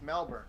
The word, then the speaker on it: Melbourne: Melbourne. Melbourne. Yeah, Melbourne. Or is it Burn? Is it Burn where you don't pronounce the O? Correct. Really? Melbourne. That's how they Melbourne. pronounce it? It's Melbourne.